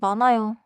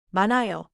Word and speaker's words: 많아요: 자연스럽게 많아요. 많아요.